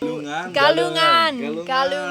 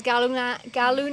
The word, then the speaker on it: Galungan: We got to experience I can't pronounce it. Galungan. Yes. We got to experience Galuna. I can't still Galungan. can't pronounce it. No worries. Galunang, which was incredible.